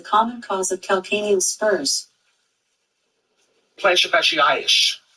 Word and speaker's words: plantar fasciitis: Plantar fasciitis sounds like Billy isish. It rhymes with cellulitis.